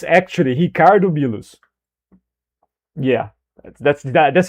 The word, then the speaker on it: Ricardo Milos: It's Ricardo Milo's guy. It's Ricardo Milo. By the way, I'm pronouncing his name wrong. I'm pronouncing his name as an English person would. It's actually Hicardo Milus.